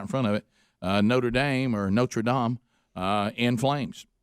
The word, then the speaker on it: Notre Dame: I I didn't this How do they say it? Notradam. Notredam. Notredam. Not. Not. And then when when we had the Catholic College, the one in America in Indiana, we say Notre Dame.